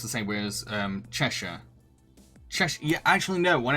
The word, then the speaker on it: Cheshire: beer drinking some Leo anything that ends in Shire is pronounced Cher yeah I should already know that since I live in Yorkshire uh Cheshire is it it's only American to say it phonetically um oh well I've